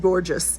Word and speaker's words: Gorgias: And I guess I guess Gorgias was sitting around one day. And by the way, yes, you can pronounce it Gorgias if you want.